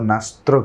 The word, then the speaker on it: Nasr: इसके प्रोनाउंसिएशन में भी थोड़ा ट्विस्ट है, डी यहाँ साइलेंट है, और यहाँ टी जो है वह लिखा नहीं है, मगर प्रोनाउंस जो है वह नास्त्र किया जाता है, स्पेलिंग इसकी NASR रहेगी।